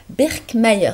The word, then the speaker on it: Birkmayer: Il s'agit de professeur Birkmayer. C'est comme ça qu'il faut prononcer.